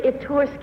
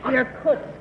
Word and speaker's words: Irkutsk: Number 1, do you know where Itursk is?